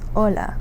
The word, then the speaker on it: hola: In Spanish, you don't pronounce that H. So, um you would just start with whatever comes after it. So, in the case of our word today, we have the word yellow, which is ice. So in that one you don't pronounce the H. Another example that everyone um is probably more familiar with is hola which is hello.